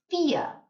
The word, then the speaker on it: vier: So vier. V sounds a bit like an F. Vier. Or the word fear in English. If you're scared of something, you have the fear.